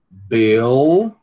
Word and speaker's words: bill: All, bill, ow, ow. E tem que pronunciar o L, certo?